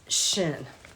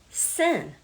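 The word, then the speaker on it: שין: the fourth letter of the Bible is shin can also be pronounced sin Shin or sin and this this letter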